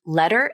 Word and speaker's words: letter: So both letter and ladder have the flap, even though letter is spelled with the letter T and ladder is spelled with the letter D. Both these words are pronounced with flaps because the T and D are between vowels.